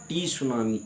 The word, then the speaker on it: tsunami: सुनामी होती है और उसको सुनामी टी साइलेंट होता है एस यू एन एम